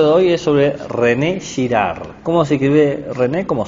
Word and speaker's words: Girard: hoy es sobre rené girard cómo se escribe rené cómo suena sin acento y girar es como gira y termina de girar no es pensador francés